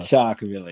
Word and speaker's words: Chocvillah: Yeah, Chocvillah.